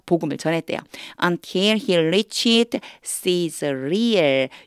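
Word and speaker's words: Caesarea: 전했어요 until he reached sear 요거는요 sear 이렇게 읽는데 가이사라 뜻이에요 너무 다르죠 발음 우리 영어로 발음하는 거하고 우리 말하고 너무 달라요 그래서 제가 요렇게 써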